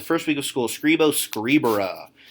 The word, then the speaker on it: scribere: week of school, scribo scribere. That is a short or like normal E, then an R, and then an E in the infinitive, telling us it is third conjugation. It is not scribere.